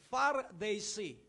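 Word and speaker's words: Pharisee: para maala-ala mo ay Gamitin mo ang ganitong pronunciation far They see sabihin mo far day par far they at yung sad sad sad So bakit far They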